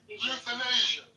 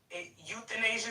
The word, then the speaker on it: euthanasia: Enth I can't pronounce that. Euthania. Euthania. Euthanasia.